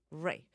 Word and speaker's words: Reich: Ray, because I like it, because it means rich in German, and I like that word. And it's like buddy rich.